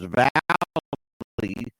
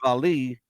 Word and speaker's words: Vallee: that Thomas Arthur Vallee, and that's how his name is pronounced. I thought it was Vallee, but it's Vallee.